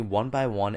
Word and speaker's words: 1byone: gonna be made by the company one by one and that is spelled number one and then B Y o and E so I'll put links